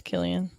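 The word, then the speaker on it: Cillian: And let me tell you what, I think it's those pronounced three- Killian. I don't know what it is, to be honest with you. I had to look it up. It is Killian.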